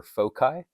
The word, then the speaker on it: foci: Variety of ways to pronounce that. I prefer foci.